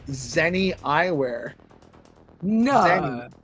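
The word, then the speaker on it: Zenni: Zenny. It's not spelled with an X, it's spelled with a Z, but you know, That's crazy.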